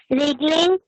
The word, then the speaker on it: wriggling: यस, I made हाँ, Repulsed by repulsed by wriggling my toes underwater. इसमें कौन कौन से लेटर साइलेंट है? Wriggling, क्या बेटा? wriggling, यस। और कुछ भी नहीं, इसमें W साइलेंट है, yes, ma'am.